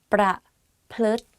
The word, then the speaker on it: ประพฤติ: ประพฤติ pra and then plut like L sound within the word. So it's like pra plut.